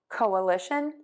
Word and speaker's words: coalition: mind here is that we are going to stress the li syllable and each of these words that means it's going to be louder longer and higher than the others which are going to be shorter softer and lower in pitch so let's try those